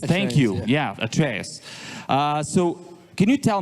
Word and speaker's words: Atreus: yeah because I really want to get my pronunciations correct at trus yeah atraeus thank you yeah atraeus uh so can you tell me how you